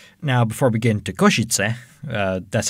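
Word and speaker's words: Košice: airport and kosciutz now before we get into koshitse uh that's how i would pronounce it he said koshitse i say koshitse but okay he's not slavic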